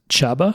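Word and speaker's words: Csaba: was named Chaba so Chaba voo maybe v o j KO o so it's spelled CS a a ba which I believe is pronounced chabba and v o j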